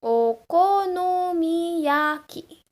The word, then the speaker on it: Okonomiyaki: O, ko, no, mi, ya, ki. Not many sounds, this error here, it's an O sound. Okonomiyaki. Not many sounds, try to pronounce it together.